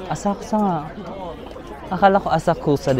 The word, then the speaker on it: Asakusa: Asakusa.